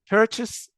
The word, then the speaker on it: purchase: طبعا purchase هنا احيانا بعضنا بينطقها بيركس كانها كلمه school، نفس الصوت. لا هي هنا تشي ساوند.